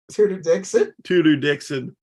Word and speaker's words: Tudor: No, when she ran for governor, Tudor Dixon. But it's spelled like two-door Dixon.